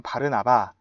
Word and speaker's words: 바르나바: 근데 조금 더 정확하게 발음하면 바르나바입니다. 옆에 있는 꼬부랑 글씨가 이제 아람어라고 해서 예수님 당시 쓰던 말인데 그 아람어에 의하면 바르나바.